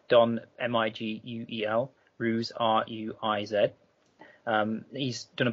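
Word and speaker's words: Ruiz: Don Miguel ruse I apologize for pronouncing his name wrong it's Don m-i-g-u-e-l ruse r-u-i-z um he's done a book called The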